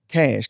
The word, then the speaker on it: Kashh: Cash.